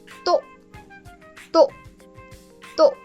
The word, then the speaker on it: 또: The third one is to, to, to. Now this is to, and it means again in Korean.